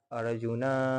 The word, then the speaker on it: अर्जुन: उसी प्रकार जो है अर्जुन उवाच यानी कि अर्जुन में न पूरा पढ़े आधा नहीं। यानी कि कैसे पढ़ेंगे? अर्जुन उवाच।